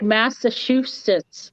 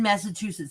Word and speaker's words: Massachusetts: I always Massachusetts, so it's Massachusetts. Massive two shits.